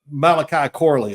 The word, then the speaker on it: Malachi Corley: it was like watching um oh my uh Malachi Corley is that right did I say his name